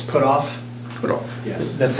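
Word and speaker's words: Pottorff: It's put off, Put off. yes. That's how it's pronounced.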